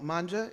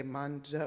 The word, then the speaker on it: manga: to say it wrong, manga? Is it say manja or manga? M-A-N-G-A. Manga. Manga, okay, thank you.